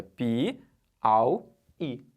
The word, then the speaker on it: Piauí: Vamos separar a sílaba de Piauí? Piauí. Beleza? Não pode ser tudo junto lá, é Piauí. Não vai ficar Piauí. Não pode ser um Auí junto, é Pi-au-i.